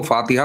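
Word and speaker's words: फ़ातिहा: एक तो वो जानबूझ के, उनको फातिहा आता है सर, वो फातिहा प्रोनाउंसिएट नहीं करते हैं, वो बहुत, अब क्या ही बताएं योगी जी, वो फतिया कहते हैं।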